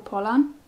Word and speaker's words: Pollan: and i really like i always say his name wrong it's michael pollan i really love his